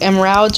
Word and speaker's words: Emralds: It's like a variation of emeralds, but it's pronounced like emeralds or something.